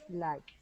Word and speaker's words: liked: T or it liked liked is is this liked it's the T sound liked everybody say it